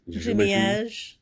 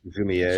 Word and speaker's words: Jumièges: Jumièges. Jumièges. Jumièges.